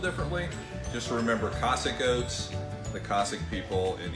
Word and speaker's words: Cosaque: closely closely closely it's called Cossack and that's the final answer how do you pronounce